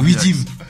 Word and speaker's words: Weedim: Je l'ai bien prononcé là. M. Widim. C'est ça. Bah, c'est ce que j'avais dit, non? Non. Non, c'est. Ça, je vais crier un peu, tu vois. Ah non. Widim.